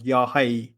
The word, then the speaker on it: Yahweh: But also, the Tetragrammaton can also be pronounced as Yahweh, which means the living one. So it can be Yahweh or Yahweh or Yahuwah.